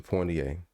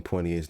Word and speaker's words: Poitier: And yes, for those who are listening, I do put an N in Poitier's name every time I say it, even though it's not there. So disrespectful. Poitiers. Kind of like the Pointer Sisters.